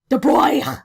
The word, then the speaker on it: de Broglie: next topic which is a de bruy's wavelength the boy yes that's um how you pronounce that okay let's get started